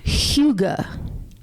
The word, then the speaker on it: Hygge: But it's pronounced Hygge. Kind of like We'll go with Hugo, but Hygge.